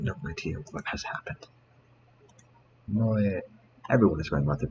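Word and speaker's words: 萌え: entertainment centered around characters who possess such traits, pronounced moe.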